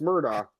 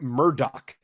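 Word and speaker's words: Murdaugh: on the show okay his name is pronounced Alec Murdock no it's not it's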